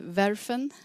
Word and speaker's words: Verfen: Och ni samarbetar bland annat med ett bolag som heter Verfen. Uttalar man ja, det stämmer.